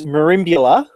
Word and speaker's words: Merimbula: Down in Australia, you're doing a lot with wargaming with the Merimbula Wargaming Society. Why don't you tell us a little bit about that? Well, I'll correct you. It's Merimbula, is how it's pronounced.